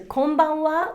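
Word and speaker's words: こんばんは: it is actually written as ha and just pronounced as and the same actually applies to konbanwa which is good evening same thing the wa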